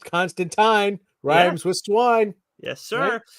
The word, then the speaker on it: Constantine: issue eight we got props for how we pronounced Constantine rymes with swine yes sir yeah and for